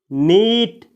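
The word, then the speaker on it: knit: अगला वर्ब है दोस्तों नीट। इसमें भी के का उच्चारण नहीं किया जाता है, इसको पढ़ा जाता है नीट।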